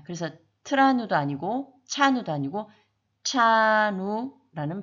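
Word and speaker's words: trano: 그것의 차이는 TR 이 발음은 우리 윗니 뒤쪽에 보면 오돌도돌한 치경이라는 부분이 있는데 거기에 혀를 댔다 떼면 차누가 됩니다. 그래서 트라누도 아니고 차누도 아니고 차누라는 발음이 나게 됩니다.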